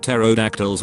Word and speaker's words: pterodactyls: existed i feel like pterodactyls would be a nuisance they would urinate all over us and we wouldn't even notice you would probably notice it just not hear it the p is silent just finished up collecting